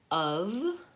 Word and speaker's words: of: And then of, yes, again, vowel schwa. Of. It's a funny looking spell, IPA for of. Again, that's also vowel such fun, of.